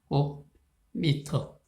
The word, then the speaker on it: 제곱미터: 이건 제곱미터라고 읽죠. 제곱미터.